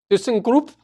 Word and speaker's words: ThyssenKrupp: That Thyskerup Marine Systems, the German submaker. How do you pronounce it? ThyssenKrupp Marine Systems.